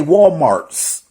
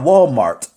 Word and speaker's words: Walmart: People like to say Walmarts. It's not Walmart. It's it's not Walmarts. Excuse me. It's not Walmarts. It's Walmart.